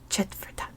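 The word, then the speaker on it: Četvrtak: It's pronounced Chetvertak.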